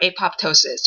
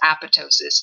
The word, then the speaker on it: apoptosis: That leads us to talking about programmed cell death or apoptosis, or you might hear it pronounced apoptosis, depending on who you're talking to.